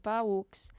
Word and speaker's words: paücs: En tot cas, els paücs, la paraula paücs s'escriu amb una dièresi damunt la U. Molt bé. I per això ho pronunciem així separadament, paücs.